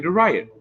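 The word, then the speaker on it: Theriot: Ryan DeRiot. Okay, Ryan DeRiot. That's how it's spelled.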